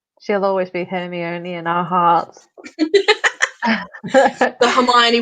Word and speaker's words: Hermione: is that that's why she invented that crumb character so that hermione could teach him how to say hermione so that she could tell her audience no this is how you say the name she'll always be hear